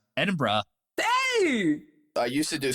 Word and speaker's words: Edinburgh: David, how do you say the city that he taught you how to pronounce? Edinburgh.